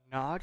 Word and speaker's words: Gnog: Nog, I think it's how it's pronounced. Gnog is how it's spelled.